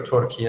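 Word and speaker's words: Türkiye: much change and uh turkey or tury as you rightly uh pronounce it the new name uh which is how we pronounce it in Iran anyway in in T and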